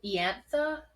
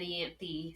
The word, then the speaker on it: Ianthe: I say Ianthe. Okay, I did Google it and it said Ianthe, so I think you do pronounce the E in some way.